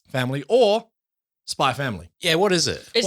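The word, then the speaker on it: Spy × Family: or hunter x hunter you actually drop the x i believe i think it's the spy family i think it's just by spy family but it's spelt spy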